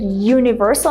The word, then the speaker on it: universal: So the way we pronounce the word universal, make sure you really pronounce this y sound.